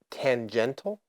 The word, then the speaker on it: tangential: Tangential? Tangential. Well, it's spelled tangential. No, it's shul.